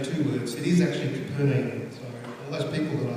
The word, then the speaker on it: Capernaum: I've been mispronouncing poor old Capernaum as Capernaum, but I did a little bit of homework, so it's actually a combination of two words. It is actually Capernaum, so all those people that I said were wrong.